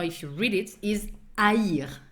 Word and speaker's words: haïr: Goes with an H that you do not pronounce and goes with what we call an I tréma. That's the 2 points that are on top of the I that makes the sound haïr. That makes the two vowels pronounced.